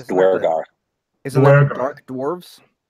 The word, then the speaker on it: Duergar: instances of this in the book, but the pronunciation for Duergar, I don't think there were any characters that were Duergar. It's Duergar.